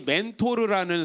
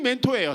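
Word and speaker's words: Mentor: 그 사람이 멘토예요. 사실은 사람 이름이에요. 멘토르. 근데 이제 영어로는 R 발음을 안 하니까 멘토가 되는 거죠.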